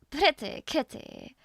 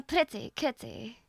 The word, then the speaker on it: pretty kitty: I'm a pretty kitty oh he does pronounce the T pretty kitty I'm a pretty kitty so you you don't you don't drop the tea I thought I thought it would be dropped for some reason I